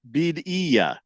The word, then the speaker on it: Birria: Chief Skull says, "Bidia, Bidia, Bidia." Yeah, I know. Bidia. I know how it's actually pronounced.